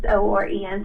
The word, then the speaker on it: Oren: and, ask the person, how do you actually pronounce your name? And I thought it was O-R-A-N, but he said it was O-R-E-N, so Oren.